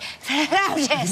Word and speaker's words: flautist: I said it though you have to say it like with a a hotty sort of accent like flus know it was amazing flus like you're playing the flute yeah that was that